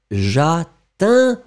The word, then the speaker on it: j'atteindrai: A, I, j'atteindrai, j'atteindrai. Encore une fois, Sundar, j'atteindrai, j'attendrai. C'est différent.